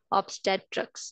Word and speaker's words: obstetrics: So actually जब हम first first पढ़ते हैं तो गलत हो जाता है, बट we should try always to pronounce it correctly and the correct pronunciation is ऑब्स्टेट्रिक्स. Obstetrics. This is the correct pronunciation, and we should try to pronounce it correctly. So, this was all about what is obstetrics.